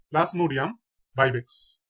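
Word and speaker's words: Plasmodium vivax: Malaria জীবাণু, malaria জীবাণু নাম হচ্ছে প্লাজমোডিয়াম ভাইভেক্স, প্লাজমোডিয়াম ভাইভেক্স।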